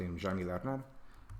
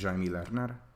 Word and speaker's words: Jaime Lerner: It's something that how is this pronounced? Jaime Lerner, the guy who did this Earth. I think it's Jaime Lerner.